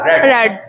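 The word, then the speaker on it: read: बोले I have I have रेड रेड अ book अ book देखो spelling तो यही रहेगी आर इ ए D second form की स्पेलिंग भी यही रहेगी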